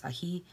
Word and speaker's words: ají: chili pepper, because ají, or yes, the accent is on the I, so it's ají, means chili pepper, and dulce, of course, means sweet.